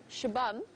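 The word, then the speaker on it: Xabam: And interestingly enough, Shabam, spelt with an X. In the local languages, the X sound is a sh sound.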